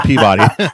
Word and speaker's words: Peabody: Oh, you just say Peabody, but it's spelled Peabody. Peabody, yes, our accent.